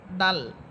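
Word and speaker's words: دال: এরপরে হরফ দাল।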